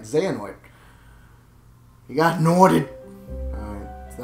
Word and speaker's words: Xehanort: Xehanort. Oh, yeah, I said it right. Xehanort.